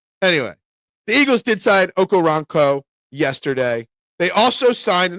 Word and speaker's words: Okoronkwo: The W is silent. So it's Okoronkwo. Gotcha. Okoronkwo. Not Quo, Co.